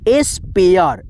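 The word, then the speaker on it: spare: एस पी ए आर ई, एस्पेयर, एस्पेयर, ए, ठीक है, ए का उच्चारण।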